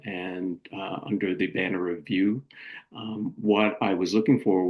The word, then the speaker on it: VYOO: And the company spelling, or the spelling of the company name, VYOO, but pronounced, I believe, is pronounced as View.